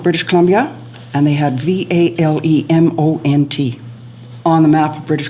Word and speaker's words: Valemount: It's Valemount. Yes. Yeah, there's too many say Valemount, and this goes back